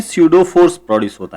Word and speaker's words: pseudo: को ही कहते हैं स्यूडो फोर्स। ये स्पेलिंग PSEUDO है, लेकिन इसमें P साइलेंट है।